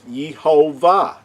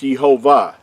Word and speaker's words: Yehovah: That's why you might see it, that name, the Creator's name, pronounced as Yehovah. Now, there is no way the Creator's name is pronounced Yehovah.